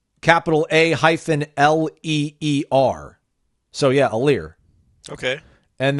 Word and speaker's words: Aleer: During the commercial break, I found the pronunciation guide. So, Aleer, it's capital A-L-E-E-R.